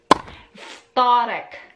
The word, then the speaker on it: wtorek: Tuesday is wtorek. Wtorek. Again, W pronounced as V.